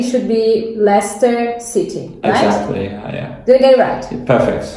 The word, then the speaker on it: Leicester: with this name and usually say lace tester which is incorrect so pronouncing it correctly should be Leicester City yeah doodle rat